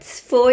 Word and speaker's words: pho: फो is basically like फो, PHO, that's how they pronounce.